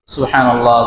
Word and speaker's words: সুবহানাল্লাহ: সুবহানাল্লাহ বার উপরে জজম, হ্যাঁ হ্যাঁ না হ্যাঁ, সুবহানাল্লাহ সুবহানাল্লাহ না, লামের লামকে পুর করে মোটা করে পড়তে হবে।